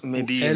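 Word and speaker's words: Medellín: They pronounce Medellin. L as Y.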